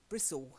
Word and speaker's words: Bristol: So from Nottingham to Bristol, suddenly the pronunciation changes dramatically. Bristle instead of Bristol, Okay. and everything ends in ul.